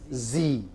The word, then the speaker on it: Z: communication in multi-disciplinary communication how would you pronounce it why next said or as americans do it as many americans do it not everyone z okay right what i'm